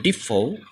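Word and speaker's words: depot: কিছু কিছু ওয়ার্ড আছে যেগুলোতে সাধারণত টি টা সাইলেন্ট থাকে এরকম কয়েকটি এক্সাম্পল ওয়ার্ড আমরা এখানে দেখব যেমন হচ্ছে লিসেন মানে শোনা এন্ড ডিপো মানে হচ্ছে ডিপো বুকেই মানে হচ্ছে ফুলের দোড়া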